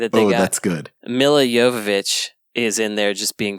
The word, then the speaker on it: Jovovich: I always thought it was Nia Jovovich. They have an argument about her own name? Yeah, because Michelle Rodriguez says Jovovich every time, and it's pronounced Jovovich, and Mila is like, it's Jovovich, Jovovich.